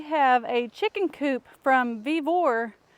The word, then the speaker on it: Vevor: But I'm gonna go get Brandon's help because we have a chicken coop from Vivor. I believe that's how you pronounce it. It's Vivor.